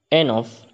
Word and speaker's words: enough: Enough, where GH stands for F.